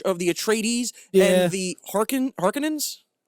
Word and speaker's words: Harkonnen: the Atreides and the Harkonnens. Did I add that syllable? Yes, Harkonnen. Harkonnen.